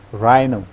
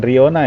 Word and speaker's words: rhino: Badak dibacanya rhino. Nah, ini rhino. Rhino. Oke, coba ikuti rhino. Bukan Riona ya, rhino.